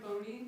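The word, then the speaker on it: Buoni: my name is Marana bony my last name is spelled b u o n i not not easy to get it from the pronunciation thank you uh I'm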